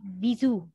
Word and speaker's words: bisou: is pronounced, but yeah, this is a French word and it is read as bisou.